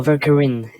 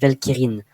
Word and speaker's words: Velkyrin: No, Velkyrin. The English pronunciation is actually good, but if we say it in French, it would be Velkyrin.